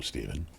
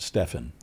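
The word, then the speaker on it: Stephen: And for as long as I can remember, everybody pronounces it Stefan.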